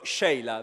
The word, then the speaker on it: Sheila: di Milano, Sheila, attenzione, si dice proprio Sheila perché mi ha chiesto, mi raccomando, così è la pronuncia che le sembra più opportuna per il suo nome, è Sheila di